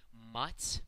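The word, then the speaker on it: мать: So, for example, in the word for mother, the word mats, that final T there is pronounced as a soft consonant because it's followed by, you got it, a soft sign.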